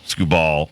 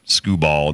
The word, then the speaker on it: Skubal: And is it Skubal? Skubal from the Detroit Tigers. Yep, Skubal. There's no screw in there.